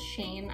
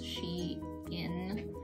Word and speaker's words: SHEIN: about some she in i thought it was shane actually but turns out it's she in but i might just stick with shane because it's you know just one syllable so anyway i was